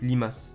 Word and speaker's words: Limas: son propre pseudo et ça se prononce pas lamas ça se prononce Limas Limas on va passer